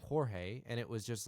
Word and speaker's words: Jorge: it was just like the Spanish version of George, and that's Jorge is the name. Yeah, And then I met a few people that it's spelled Jorge, but they they go, by George.